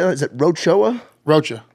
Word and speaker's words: Rocha: Rocha. Rocha.